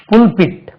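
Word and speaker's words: pulpit: டி இது full பிட் இது bulb bulb இது புல் புல் பிட் ஃபுல் பிட் எப்படி சார் ஆச்சு இது பல்ப் இருந்தா பல்பிட்டாலே வரணும் we கேன் நாட் ப்ரொனௌன்ஸ்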